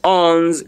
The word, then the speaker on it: onze: Please, your pronunciation is onze. If I were you, what I'm hearing as an English, as an Anglophone person, I'm hearing U-N-Z in my pronunciation. And the moment I hear U-N-Z, I'll simply say onze.